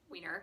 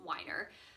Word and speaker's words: Weiner: about Jennifer Weiner and we refer to her as Jennifer Weiner, and I have since listened to a podcast featuring her and realized that the correct way to pronounce her name is Weiner.